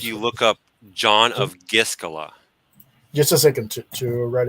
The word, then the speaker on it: Gischala: Giscala is spelled Gischala.